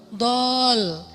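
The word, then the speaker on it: ضالا: Alam yajidaka yatiman fa'awa wa wajadaka dhallan dol. Kenapa dol itu kayak panjang bacanya? Karena sesat jauh gitu kan ya.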